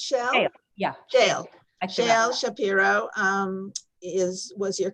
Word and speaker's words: Shale: And then, Shale, is it pronounced Shale? Shale, yeah.